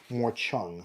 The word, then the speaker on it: morchang: play an Indian morong I've always been calling it The morchang however I have been corrected I do believe it's pronounced morchang from India I'll start off playing